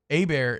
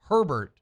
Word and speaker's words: Hebert: ben if you're listening a bear is spelled h-e-b-e-r-t herbert is spelled h-e-r-b-e-r-t you were talking about